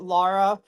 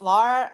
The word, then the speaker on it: Lara: involved until I met Laura and sorry I say la I'm bad with pronounciation Lara and um Serge and